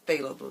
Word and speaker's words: phthalo: they'll green and it's ph ph th alo I think that's failable that's how I pronounce it that's how my professor is pronounced it so that's how I'm pronouncing it phthalo blue but anyway